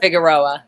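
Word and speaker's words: Figueroa: Was I a 45 South Figur Figarero? How do you say that? Figuroa.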